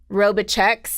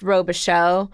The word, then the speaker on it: Robicheaux: so difficult because something that would look like roba checks is technically pronounced Robicheaux well if it's a last name if Richard